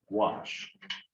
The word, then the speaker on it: gouache: It's pronounced gouache, also known as body color.